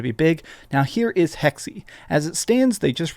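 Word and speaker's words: Hexe: other one here codename hexi hexy is apparently how this is pronounced so you see here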